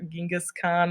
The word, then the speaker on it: Genghis Khan: Eventually, one amongst the various clans, one Mr. Genghis Khan, or Genghis Khan, which is another way I've heard it pronounced.